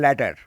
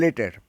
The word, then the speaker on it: later: অনেকে উচ্চারণ করবে ল্যাটার, কিন্তু এর উচ্চারণ হচ্ছে লেটার।